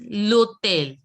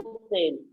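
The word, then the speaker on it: hôtel: This is Lotel. Local. H is Lotel. Local. Hotel. Lotel. See, H is not to be pronounced as it is silent in French.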